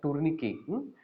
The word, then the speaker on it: tourniquet: we call it as tourniquet. The last T is silent, so you should call it as tourniquet.